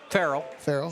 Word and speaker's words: Farrell: Farrell, sorry.